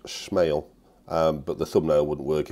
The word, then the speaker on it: SMAEL: So we're going to take a look at this watch today, the small 8008. Well, I think it's actually pronounced SMAEL, but the thumbnail wouldn't work if I'd have done that.